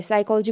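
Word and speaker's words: psychology: जैसे साइकोलॉजी वहीं से दी है, साइकोलॉजी को P पढ़ते हैं नहीं पढ़ते हैं ना, तो इस तरीके से।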